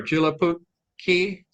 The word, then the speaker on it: Joulupukki: Okay, any day of the year, Santa Claus or Julapuki. Did I say that right, Randy? I'm not sure. I can't pronounce it. It's Joulupukki.